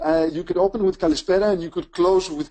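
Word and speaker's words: καλησπέρα: my pleasure thank you Michael so is it Kalisa are we we at that time of the evening or is it Kalita I can't even know how to pronounce it we will uh you could open with kalispera and you could close with Kika right perfect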